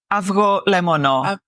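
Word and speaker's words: avgolemono: lemon the lemon egg AO lemono AO is the egg and lemono lemon exactly so so you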